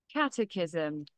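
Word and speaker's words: catechism: on days when they have ক্যাটাস কি এটার উচ্চারণটা একটু দেখে আসি ক্যাটাকিজম ক্যাটাকিজম প্রশ্ন উত্তর লেসন আর কি আমরা এখানে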